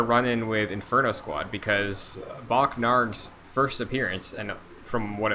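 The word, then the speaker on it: Bokk Naarg: repurpose him gotcha well uh my poll is bach narg what bach nard that is spelled b-o-k-k space n-a-a-r-g n-a-a-r-g yes bach narg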